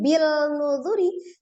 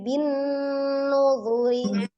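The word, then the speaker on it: بِالنُّذُرِ: Ya, jadi bacanya bukan bil nuzuri tapi bin nuzuri.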